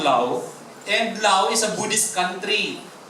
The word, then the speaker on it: Laos: Pero pagpronounce ko yun Silent S. So I I come from law. I came from law.